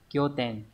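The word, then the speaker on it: 拠点: Từ này đọc là kyo ten.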